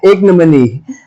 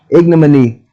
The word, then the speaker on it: ignominy: oh I said it right the first time ignominy okay I said it right the first time